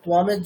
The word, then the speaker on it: त्वां: আচ্ছা, পরেরটা কেমন হুম হবে, ত্বামের যে অনুসার সেটা কেমন হুম হবে, পরে পকার আছে, মানে মকারের মতো হবে।